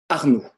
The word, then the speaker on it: Arnaud: Par exemple, si j'écris mon prénom, vous voyez, on va prononcer Arnaud. C'est-à-dire que A plus U plus D égale le son O.